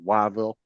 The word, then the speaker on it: Whiteville: Yeah, it's white, it's Whiteville, but everybody there says Wyville. That's how they pronounce it.